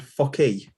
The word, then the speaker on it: focky: But a couple of Scottish with, and this is how you pronounce it, and I do apologise for the sensitivities among you. There's Fokker and Focky.